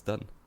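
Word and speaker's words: Dunne: How are we meant to pronounce his name? Is it Alex Dunn? Yeah, but people keep saying Dune.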